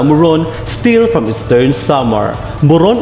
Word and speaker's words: muron: Muron is pronounced like murong.